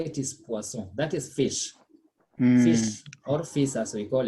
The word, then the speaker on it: poisson: s sound is returned but now it is single s between the words so the sound becomes what said poisson so pronunciation is very